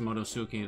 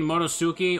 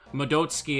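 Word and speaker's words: Madotsuki: You mispronounced Motosuke, though. The T is silent. TSU is pronounced Sue. Freaking not. I thought my viewers were weebs. Okay, Stalfos. Actually, from what I understand, saying Motosuki or Modotsuki is technically correct.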